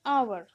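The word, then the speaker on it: hour: तो ये जो फर्स्ट मैंने लिखा है आवर, स्पेलिंग तो स्टार्ट होता है एच से, कॉन्सोनेंट से, पर उसका प्रोनाउंसिएशन होता है आवर, वाउल साउंड अ।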